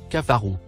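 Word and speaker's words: كفروا: lien avec les animaux le premier mot en surbrillance jaune se prononce cafarou c'est le verbe cafara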